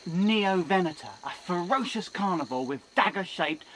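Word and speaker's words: Neovenator: referring to the Neo Vena it sounds like neov Venta but it's pronounced neoen a ferocious Carnival with dagger-shaped razor sharp teeth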